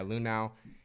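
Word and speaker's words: Luhnow: Astros found cheating, and Manfred suspended Astros GM Jeff Lunau. Is that how you say his name? Yeah. Yeah, Lunau.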